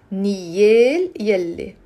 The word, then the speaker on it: نيالي: نيال يلي but together you will pronounce it نيالي نيالي نيالي four syllables نيالي say it with me نيالي عنده نيالي عنده حما مثلك نيالي عنده Hama mitlik.